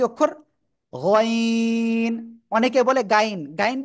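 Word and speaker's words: غين: গইন। অনেকে বলে গাইন, গাইন বললে গাইন হবে না, ঠিক আছে? গইন, ঠিক আছে।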